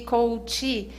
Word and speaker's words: coach: Coaching, coach e coachee. Realmente tem uma sutil diferença na pronúncia, porque um deles é o processo, que é coaching. Então, tem o NG no final. Quem aplica o processo é o coach, sem ING no final.